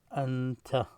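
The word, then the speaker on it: أنت: So you see, this is a Hamza, this is an N, this is a Ta. The way you call these letters separately, Hamza, Noon, Ta. When you pronounce it and you write it script form like this, it's Anta, you, Anta.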